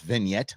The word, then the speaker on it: vignette: That's what I thought it was, but apparently it's pronounced vignette. I don't speak French, but vignette is what it is, and this is what we play.